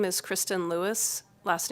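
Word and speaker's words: Luis: of the judiciary committee my name is kristen lewis last name is spelled l-u-i-s i am a justice of the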